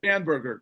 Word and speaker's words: Spanberger: right after and and we'll talk about a Abigail's Stern, how do you pronounce her last name? Spamber. Spanberger.